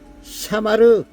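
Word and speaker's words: שָׁמַר: 샤마르, 샤마르, 샤마르. 쉰, 맴, 레쉬. 샤마르라고 읽습니다.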